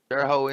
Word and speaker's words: Terre Haute: Tell me, am I pronouncing that right? Terre Haute? Terre Haute, Indiana.